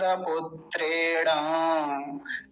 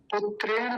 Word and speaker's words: पुत्रेण: पुत्रेण नहीं बोलना, पुत्रेण।